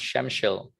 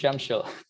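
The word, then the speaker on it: Przemyśl: me proper directions it's it starts with prz and it's pronounced shemshil i don't know how but it's pronounced shemshil um so uh the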